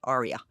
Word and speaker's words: ARIA: do this now with Adia or I always pronounce everything in Italian way Arya yeah right which is